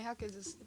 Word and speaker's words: Jaquez: How do I pronounce that? That is a normal name. My brain's just gone quiet. Jaquez? She's Jaime Jaquez.